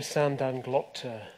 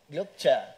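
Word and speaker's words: Sand dan Glokta: I say Sandan Glokta. Glokta.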